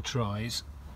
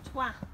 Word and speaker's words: Troyes: So this is going to be our break really, because we want to go into Troyes. Oh. Trois. Huh? Pronounce twa.